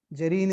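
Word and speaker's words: Dejerine: is called as a gerine syndrome. Okay. Jireine is D J E R R I A D is silent there.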